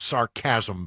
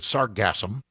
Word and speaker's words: sargassum: uh the Great Atlantic sargassum belt not sarcasm belt but sargassum it's sargassum brass I may be pronouncing